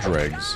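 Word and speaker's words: Dreugh: to fight 3 land dregs. So I think it is pronounced Dreg.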